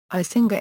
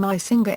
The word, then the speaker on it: Icinga: The name Icinga is a Zulu word meaning it looks for, it browses, or it examines, and is pronounced with a click consonant.